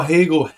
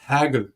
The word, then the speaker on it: Hegel: You say You call Hegel Hagel.